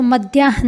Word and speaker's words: मध्याह्न: भी हलंत हैं और वर्ण का जो क्रम है वह अकार नकार अकार है अर्थात नकार से पहले हम है तो मध्याहन ना ऐसा उच्चारण करना है कि मध्यान हक उच्चारण में ध्यान रखेंगे मध्यान के लिए इंग्लिश